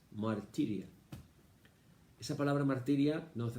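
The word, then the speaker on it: μαρτυρία: Testimonio en griego es marturia o martiria, porque la U se pronuncia como la I francesa, martiria.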